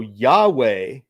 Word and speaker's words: Yahweh: So Yahweh is how you would say it, but they didn't want you.